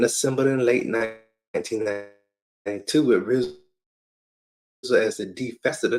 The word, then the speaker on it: RZA: And Prince Rakeem became the RZA, pronounced R-Z-A.